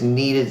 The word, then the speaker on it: kneaded: That is kneaded spelled like you're kneading bread.